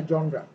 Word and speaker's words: genre: যেমন GENRE, তুমি চিটাং কলেজের কোনো স্যারের কাছে যদি যাও, উনি তোমাকে বলবে যে স্যার এটা তো জেনার না, এটা জনরা।